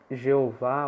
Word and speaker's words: Jeová: não pronuncia isso eh em português a pronúncia pode ser Jeová ou Javé né os protestantes tendem a preferir Jeová os católicos tendem a preferir Javé Mas de fato tanto faz